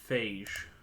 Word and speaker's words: phage: Fog is pronounced phage.